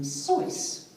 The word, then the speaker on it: Seuss: writing under the pseudonym choice which is actually how you pronounce it it was pronounced which rhymes with a voice but he allowed people